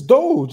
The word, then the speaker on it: Doge: It's Doge, nigga. There's no extra.